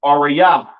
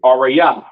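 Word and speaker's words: אריה: Next, we have lion, which is pronounced arayah in the Hebrew. Arayah.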